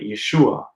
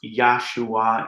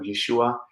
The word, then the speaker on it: Yeshua: and from yeshua you also get the name yeshua which is how you would say the name